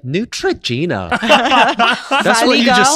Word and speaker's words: Neutrogena: crazy over that because she pronounced it Neutrogena yeah yeah here's Neutrogena yeah but everybody was like why does she have to pronounce it like that because she's American